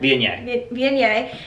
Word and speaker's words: Viognier: Viognier.